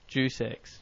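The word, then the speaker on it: Deus Ex: It's pronounced like Jew as in the race and then sex. D sex. No, not due dex. Jeex. Je sex.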